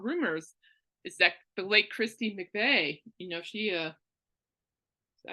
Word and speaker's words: Christine McVie: And what I like about Rumors is that the late Christine McVie, she, is that how you pronounce her name? Yeah. Christine McVie, yeah.